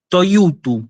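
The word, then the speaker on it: τοιούτου: Esto se lee toyutu, se lee toyutu. ¿Sí? Fíjense, tiene 3 diptongos, no 1 ni 2, tiene 3.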